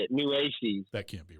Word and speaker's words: Nueces: It's Nueces is how you say it. Nueces.